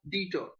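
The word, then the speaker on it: debtor: In this the B is silented pronounced detour.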